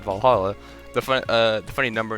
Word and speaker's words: VA-11 HALL-A: i know oh uh the name sounds silly and a bit hard to pronounce good thing it's actually called valhalla the uh the funny